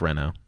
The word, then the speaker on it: Renault: So this is a Renault or Renault, however you want to pronounce it. It's Renault. Everybody says Renault.